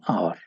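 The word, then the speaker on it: hour: घंटा होता है और चूंकि यह अ साउंड से शुरू होता है हा इसमें साइलेंट है तो ये वाबल साउंड है लिहाजा इसके साथ एन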